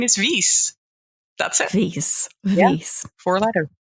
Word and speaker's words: Wies: my goodness this is hilarious my name is Reese that's a nice nice four-letter yeah and it's